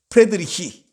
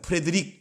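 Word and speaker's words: Friedrich: 게오르크 프레드리히, 이거 다 프레드릭 이렇게 하면 그 영어식 발음이고요.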